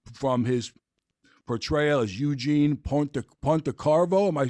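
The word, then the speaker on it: Pontecorvo: You might know Bobby from his portrayal as Eugene Pontecarvo. Am I pronouncing that right? Ponte, Pontecovo Bridge Ponte, Crow. Yes, it's good to be here. Pontecarvo.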